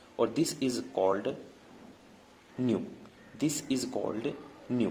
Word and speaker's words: nu: थोड़ा, ठीक है ना, बुक में बना रहता है न्यू, NU न्यू या NEW न्यू, ठीक है। मैं प्रोनाउंसिएशन बता रहा हूँ, इसको क्या बोलते हैं, न्यू, है ना, नए वाला न्यू, ठीक है। लेकिन जो इसको लिखा जाता है वो लिखा जाता है NU, ठीक है।